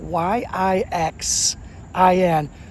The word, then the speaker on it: Yixin: So, they find this Chinese sculptor whose name is Lei Lei Yixin. Last name is spelled Y I X I N, pronounced Yixin.